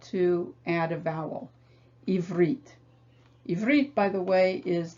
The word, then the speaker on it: Ivrit: contain the new sign, you begin by approaching them as if they were two separate syllables. Ivrit. And then you put those two syllables together, ivrit. And then you finally notice